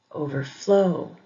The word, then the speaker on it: overflow: Compound verbs usually have the emphasis on the second syllable. Understand, understand. Overflow, overflow. Compound adjectives usually have the emphasis on the second syllable as well.